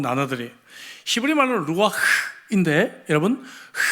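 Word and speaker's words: רוּחַ: 히브리 말로 루아흐인데 여러분, 흐라고는 발음을 하면서 숨을 내쉬지 않고는 이 발음을 할 수가 없는 그러한 단어가 쓰여졌습니다.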